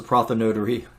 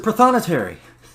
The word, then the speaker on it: prothonotary: and I said it's a prophet notary warbler and he kind of looked at me funny and as we're walking away he yells prothonotary and I'm like what he said prothonotary so we've been mispronouncing this bird's name the whole time but this is the